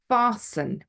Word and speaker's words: fasten: the L um Christmas fasten fasten your seat belts we don't pronounce the T often now you will